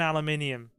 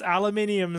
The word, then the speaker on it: aluminium: Yes, it's aluminium, sir. Okay, our minds are slipping a bit. A green herb, is this Resident Evil? No, neum, num. Aluminium. Just like a herb is pronounced with the H.